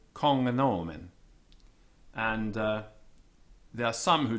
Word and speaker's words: cognomen: The Latin GN, footnote 6 first, after a vowel, has been supposed to have the sound of hngn, so as in hangnail. So regnum, being pronounced regnum. Cognomen as in cognomen.